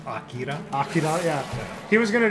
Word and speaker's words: Akira: And he was gonna do Akira, but he's like, It's pronounced Akira.